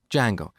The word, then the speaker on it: Django: very popular framework called Django so it's spelled with a silent D and it's pronounced Django it's a web framework